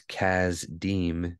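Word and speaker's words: Kasdim: Chaldeans but that is that's not actually the name it's Kaz deem is the pronunciation and if you remember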